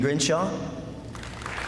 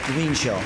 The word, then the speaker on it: Greenshaw: Megan Grinshaw. That's Greenshaw. Sorry, Megan, I mispronounced your last name.